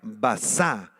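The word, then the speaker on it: בָּזָה: La palabra despreciable, apúntala, es la palabra hebrea basá, con Z y con acento en la segunda A, basá, y describe a alguien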